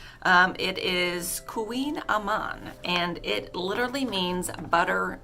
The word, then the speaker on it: Kouign Amann: pronunciation nancy i can't even pronounce it the pronunciation um it is queen amman and it literally means butter cake and she